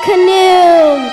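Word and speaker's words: Khnum: I am Canoom. That's K-H-N-U-M. The H is silent.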